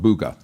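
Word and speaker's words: Buga: Um b u g-a is how it's spelled and it was found in an area of Colombia, South America uh called Bugga.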